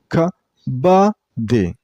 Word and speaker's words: kabaddi: Kabaddi. And you should stress on the middle syllable. I mean on ba sound. Kabaddi. The per syllable is pronounced very shortly.